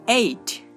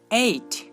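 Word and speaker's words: eight: Next I জি এইচ, এই লেটারগুলো এই সাউন্ডটি উৎপন্ন করে, যেমন এইট এইট। এর অর্থ হচ্ছে 8 সংখ্যা। তো দেখুন এখানে আমরা আই জি এইচ পাচ্ছি আর তার উচ্চারণ হচ্ছে এই।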